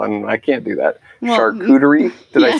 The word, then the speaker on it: charcuterie: in high school and I can't do that cooter II did I say right yes the more glasses